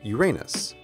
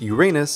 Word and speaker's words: Uranus: that the name of the seventh planet is pronounced Uranus. Of course, to a kid, Uranus sounds an awful lot like Uranus, which is